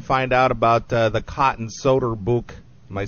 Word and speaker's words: Soeterboek: Well, once again, why don't you tell people where they can find out about the Cotton Soeterboek? Am I saying that again right? That's Soeterboek. That's right. Soeterboek.